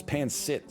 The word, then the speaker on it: pancit: I'm gonna add some pancit. I'm assuming is how it's pronounced. And you know what? Some mapo tofu. Just a nightmare menu. Oh, there's beef Wellington on there? Next time. It's pancit.